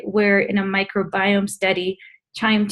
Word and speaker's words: QIIME: It's pronounced QIIME.